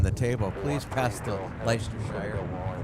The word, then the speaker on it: Leicestershire: I think that's pronounced Leicestershire. Leicestershire, okay, yeah.